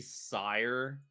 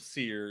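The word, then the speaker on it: Cyre: nation of seir and which is pronounced like five different ways and that's how I choose to pronounce it I think canonically it's supposed to be sire but it's also Canon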